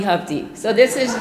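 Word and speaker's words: Hovde: and so we decided the way I can remember it rhymes with love D so it's love D hub D so this is G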